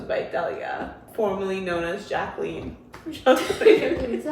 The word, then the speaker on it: Jacqueline: And then under it came right Del goes by Delya, formerly known as Jacqueline. Wait, so how do you spell that?